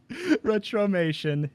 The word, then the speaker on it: Retromation: that actually don't retromation it's it's how it sounds you can find i